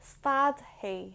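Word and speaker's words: stadfaidh: which means to stop the ending i would add on to stat is f a i d h and then that's pronounced like start he may start he too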